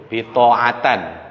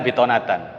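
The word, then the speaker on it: بطانة: Ketika setoran dia bacanya ya ayyuhalladzina amanu la tattakhidhu bitoatan, bukan bitonatan. Bukan bitonat. Yang benar kan bitonatan.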